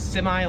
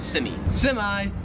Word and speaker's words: semi: So yeah, we say this word as semi, like with the I, we say I at the end. In Australian English, they would pronounce it semi.